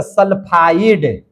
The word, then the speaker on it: सल्फाइड: ट का उच्चारण हो जाएगा। समझे कि नहीं? आप सिर्फ एस लिए है तो सल्फाइड।